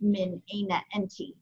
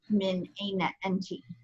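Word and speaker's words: من أين أنتِ: change the feta to a kesra, and it's pronounced min aina enti, min aina enti, okay?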